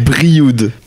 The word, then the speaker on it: Brioude: Brioude.